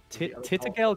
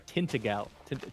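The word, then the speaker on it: Tintagel: it like outside like right here or something titigel castle in cornwall is what we should look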